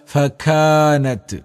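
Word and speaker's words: فكانت: നീട്ടാൻ ഫക്കാനത്ത് അബ്വാ ഫക്കാനത്ത് കാഫിനെ ദീർഘം അലിഫ് നത്ത് ഒരിക്കലും ത് മലയാളത്തിൽ തലയുടെ തൻ പാടില്ല ഫക്കാനത്ത് ഒരല്പം കാറ്റ് പുറത്തേക്ക് വരുക അബ്വാ അബ്വാ ബിന്റെ ഉച്ചാരണം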